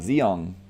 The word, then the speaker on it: Zeong: uh is it pronounced zhong or zeong zeong like a zeon but just with a g on the end arms hey let's see